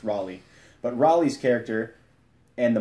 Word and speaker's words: Raleigh: or route Raleigh is how he as it pronounced in that in the movie he gets made of fun of for calling it Rayleigh it's Raleigh but Raleigh's character and the marshal they they